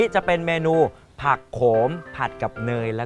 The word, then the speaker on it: ผักโขม: มอ ม้า นะ ครับ อ่าน ว่า ผัก โขม ไม่ ใช่ ผัก ขม นะ ครับ น้อง ๆ อย่า อ่าน ผิด นะ ต่อ ไป ต้อง เปลี่ยน